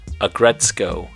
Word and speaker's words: Aggretsuko: the name is a combination of the words aggressive and the main character's name retsuko I know that it's spelled aggretsuko and retsuko but the pronunciation is aggretsko and retsuko she was created by